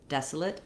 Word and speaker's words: desolate: Desolate, it's a reduced vowel, and so again, kind of moving quickly from the L, the lifted L, to the T, lit, desolate.